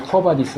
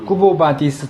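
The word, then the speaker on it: Quo Vadis: 그니까 코바디스는 이제 영어식으로 코어바디스 한 거지만 이게 라틴어로 이제 q유 이렇게 되면 꾸부 이렇게 발음이 돼요. 쿠보 쿠보 어디로 아 인물이 아니고요.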